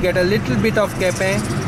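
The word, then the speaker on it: Quepem: Then you would get Tiswadi, then you would get Salset, then you would get a little bit of Kepem, spelled as Q-U-E-P-E-M but not pronounced as Q-P-E-M, Kepem.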